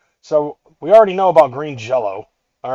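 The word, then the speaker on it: Green Jellÿ: First and foremost, green jello.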